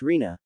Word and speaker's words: Rina: Rima nay. Itachi chuckles, reaching out a hand to ruffle his brother's hair as he sits in the girl's lap. It's Rina, Sasuke. You're still mispronouncing it.